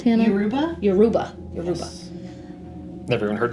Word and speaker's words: Yoruba: Did you say that's how that is pronounced, Hannah? Yoruba?